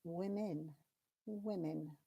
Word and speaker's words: women: I am a woman woman but two is women women so even though it looks like it should